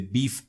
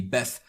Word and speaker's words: BeEF: More specifically, we're going to be looking at client-side exploitation with the BEEF framework or the BEF framework, depending on how you want to pronounce it.